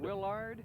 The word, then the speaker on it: Willard: We're on a first syllable besard. I said on the lard. Willard.